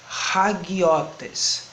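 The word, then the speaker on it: ἁγιότης: trazer a seguinte palavra: hagiotes. Aí você vai pensar, por que hagiotes? Pelo seguinte: você tem o espírito forte, que está aqui no alfa, o símbolo aqui em cima, hagiotes.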